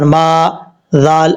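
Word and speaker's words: ماذا: کے ہجے کرتے ہیں، میم الف زبر ما، ذال الف زبر ذا، ما ذا۔ یہاں پر میم کے بعد الف مدہ ہے، بعض اوقات لوگ جو ہے الف کو چھوڑ دیتے ہیں، یہ بہت ہی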